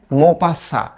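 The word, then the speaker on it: Maupassant: ডে লেখা না, এটা উচ্চারণ করি আমরা দ, হ্যাঁ, মোপাসা। এখন এই যে বানান দেখো, লাস্টে কিন্তু এনটি আছে, তো এটা একটু মনে রেখো।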